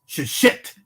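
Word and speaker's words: ששת: Now, when we read 6 days, Sheshet Yamin, that T sound at the end of it in Hebrew identifies that is not Shisha, meaning 6, or Shesh, meaning 6, but rather, brothers and sisters, a specific 6, just as much as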